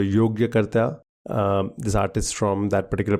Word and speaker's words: Yogyakarta: I've never quite known how to pronounce that. Yoga. Yogarta. So Yogyakarta.